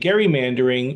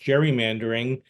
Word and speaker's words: gerrymandering: the new boundaries and Gary mandering often pronounced gerrymandering uh is the process